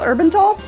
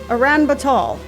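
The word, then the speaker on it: Uranbatol: Wait, that's not called Urbantal? Aran Batal. I've been pronouncing that wrong I've been pronouncing that wrong since I was... Okay, it came out in 92, so... 10. I've been pronouncing that wrong for about 30 years? Well, fuck. Okay. It's Aran Batal.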